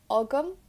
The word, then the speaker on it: agam: I always pronounce it like agam, but others might pronounce it like agam.